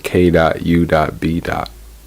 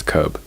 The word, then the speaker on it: K.U.B.: You can find me on Spotify, K.U.B. That's K.U.B. K.U.B. I'm on Instagram at K.U.B_Bucha, like kombucha, but spelled with K.U.B, so K.U.B_BUCHA.